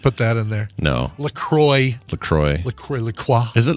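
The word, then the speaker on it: LaCroix: Just give me a lacroy like a normal person.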